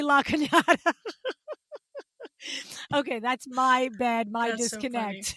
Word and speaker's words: La Cañada: If I wasn't coming on air to discuss it's not this LA, Canada. Sorry. It's La Cañada.